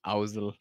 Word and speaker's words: Ozzel: J'aime trop comment Vador prononce Oui. Housel. C'est Housel.